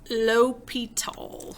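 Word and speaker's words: L'Hôpital: it looks but it's low petal so it was really the H is silent this was named after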